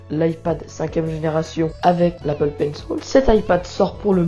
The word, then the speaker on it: Pencil: Alors pour ceux qui ne savent pas ce que c'est que l'Apple Pencil, c'est que Pencil pour prononcer à l'anglaise, c'est tout simplement un stylo qui sert à dessiner sur l'iPad, bien sûr virtuellement.